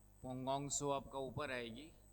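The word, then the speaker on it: Pangong Tso: दिख रहा है नाम यह आपका पोंग सो टी साइलेंट है और एक है सो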